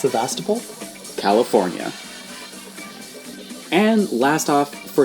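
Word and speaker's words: Sebastopol: It's pronounced Sastapole, California.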